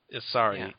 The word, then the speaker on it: Ansari: Ansari.